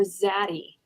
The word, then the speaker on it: Zaddy: Are you saying Jaddy or Zaddy? I can't pronounce them. Z, Z, or J? Z. Oh, Oh, Zaddy.